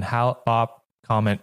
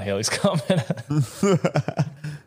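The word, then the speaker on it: Hale-Bopp: claimed would open when Halop comment came. I hope I'm pronouncing that right. So, Haley's comment. No, no, it's not Haley's comment.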